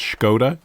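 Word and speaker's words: Škoda: It reminds me, I did a voiceover once for Skoda, and apparently that's Skoda. Yeah, you've got to put the Scandinavian spin on it.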